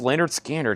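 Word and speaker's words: Lynyrd Skynyrd: Also, we got pronounced Leonard Skinner.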